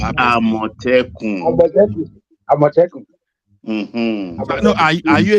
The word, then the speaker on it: Amotekun: Omoteku. Huh? Who is saying Amotekun? Amotekun. Isaac Ojo is pronounced Amotekun.